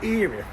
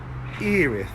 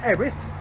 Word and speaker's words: Erith: up we are in eth as you can see it's spelled e r i t h but has pronounced eth not erth eth this is the third